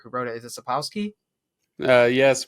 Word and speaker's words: Sapkowski: Is it Sapkowski? Yes, Sapkowski, whatever.